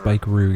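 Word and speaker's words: Spikeroog: Now I know why she said she'll sail to Speakerog. Speakerog. Children, Spikeroo, it's pronounced, the guy.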